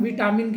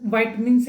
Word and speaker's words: vitamin: हम वाइटमिन्स कहते हैं, या आम हिंदी भाषा में हम विटामिन कह देते हैं। वैसे इसका प्रोनाउंसिएशन वाइटमिन्स है।